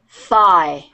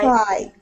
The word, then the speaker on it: thigh: of your leg okay and is tight it's pronounced thigh try thigh thigh yes yes okay is that correct that's